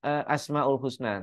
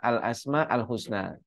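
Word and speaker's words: الأسماء الحسنى: ayat-ayat inilah dikenal sebagai asmaul husna tapi secara bahasa sebenarnya yang benar adalah al asma al-husna Cuman karena lidah kita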